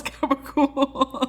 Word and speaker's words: gabagool: But it's because Italian people pronounce it so aggressively, like gabagool.